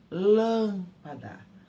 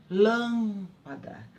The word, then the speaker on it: lâmpada: Uma outra palavrinha, lâmpada. Lâmpada, tá? Ninguém fala lâmpada, isso não existe. Eu falo lâmpada.